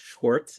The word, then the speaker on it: Schwarcz: Even though it's pronounced Schwartz, it's spelled Schwarcz.